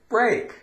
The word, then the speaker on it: break: EA, A, break.